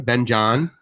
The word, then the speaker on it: เบนจา: Benjan.